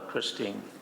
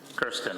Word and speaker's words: Kirsten: I would nominate Christine Lewis, Alderman Lewis. Kirsten, I'm sorry, Kirsten.